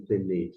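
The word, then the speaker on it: פני: Novamente, al, e aqui está ali na pronúncia, penei. Você pode mencionar penei ou penei, fique à vontade.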